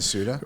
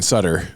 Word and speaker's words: Suter: Ryan Suter was Ryan Sutter for the first like 10 years of his career, and then he just changed it. He told us it was not pronounced correctly the whole time.